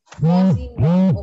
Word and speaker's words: Mawsynram: Mawsynram. What is the correct pronunciation of this place? Huh? Mawsynram.